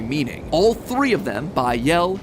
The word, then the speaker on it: Bael: All three of them, Bael, Pie Man, and Ba-Lam, are phonetic ways of pronouncing the names Bael, Paimon, and Balaam, three king demons from the Ars Goetia.